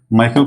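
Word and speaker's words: Michael: words को ठीक है तो यह फिर अगर हम इसको स्पेलिंग के हिसाब से बोलेंगे तो ये मिकाइल होगा समझ रहे हैं मेरा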